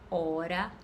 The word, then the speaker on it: hora: caso do nosso pagar quando eu falo hora e honesto eu pronuncio ó porém o h torna-se mudo ele não tem pronúncia fonética dentro da língua portuguesa os fonemas eles podem